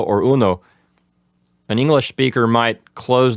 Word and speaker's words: uno: Yes, in Spanish it's very typical for us to just every vowel it only has one sound. Like for example, cero. I would say it should be said like that, cero, as opposed to zero. See, just let's finish the words in one sound.